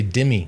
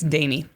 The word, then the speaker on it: Demi: it jimmy honey damie i keep want to say demi like demi lovato it is spelled d-e-m-i right um and there was just signs for all over the road but it's danny and she just you